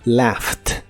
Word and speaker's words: laughed: En el pasado se pronuncia laughed. con el sonido T al final.